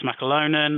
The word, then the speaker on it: McAlonan: middle there um obviously I'm mcalonan that's how you that's how you pronounce my name um my number and